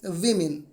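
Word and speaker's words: women: इसको आप ट्रांसलेट जब करेंगे तो कुछ इस तरीके से दिखाई देगा कि वीमेन आर, इसको सही तरीके से प्रोनाउंस करना सीखे, वीमेन।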